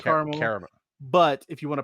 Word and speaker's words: Carmel: it like is it Carl car caramel it's pronounced carel carel but if you want to piss the people the uppity white folk up there call it caramel watch them lose their it's